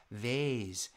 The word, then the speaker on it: vase: Actually, you can say this word two different ways.